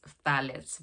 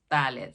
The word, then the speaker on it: phthalates: next one, which is phthalates. By the way, I had to Google to find out how this is pronounced. So it's phthalates. So it's the f and the together.